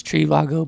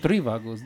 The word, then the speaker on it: Trivago: It's Trivago, by the way. Trivago. Oh, Trivago. Yeah. He downloaded 3 Vagos. Oh, Yeah. I saw it on it the. had the accent on the I.